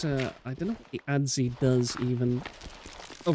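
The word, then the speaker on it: adze: I know it's spelled funny, but it's called ads. Ads. It's spelled very weird.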